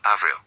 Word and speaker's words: avril: Avril, you hear the L, avril.